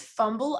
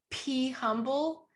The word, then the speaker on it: pHumble: wait okay so funny it's fumble i thought it was p humble like be humble right yes pronounce it fumble you and you know what they're both right and that was my